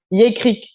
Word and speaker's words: Yékrik: nommée, bon, apprends-moi la prononciation, je pense que c'est Yekrik, c'est ça? Yékrik, oui. Yekrik, oui.